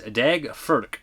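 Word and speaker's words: Daeg Faerch: of Tommy wo classic if you're interested in how that Rob Zombies Halloween kid's name is pronounced it is dag ferk it's Swedish apparently thank you questions just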